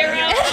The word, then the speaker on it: gyro: Because I always say gyro. I think no one knows how to say them. It is a euro. Okay. Greek, it's a euro.